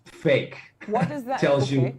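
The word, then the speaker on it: PHEIC: The acronym is, by the way, pronounced fake.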